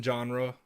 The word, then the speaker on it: genre: Genre kind of rhymes with pajamas.